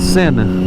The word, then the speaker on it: sin: would be the word sin. But in Spanish, the E is pronounced, or sorry, the I is pronounced E. So sin is without.